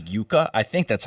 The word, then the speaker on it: Yuka: It's called Yuka. I think that's how you pronounce it.